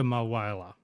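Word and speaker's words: Mulwala: is where he's pronounced it malwa so yarawanga malwala that's how you pronounce it i got it wrong it was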